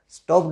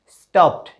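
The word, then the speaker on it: stopped: उच्चारण क्या क्या हुआ स्टॉप्ड स्टॉक नहीं होता है इसका उच्चारण क्या होगा स्टॉप्ड ये ट्रांसक्राइब किया हुआ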